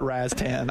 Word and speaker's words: Rastan: First of all, I call it Rastan. I don't know Rostan, like, where you get that from, but Rostan.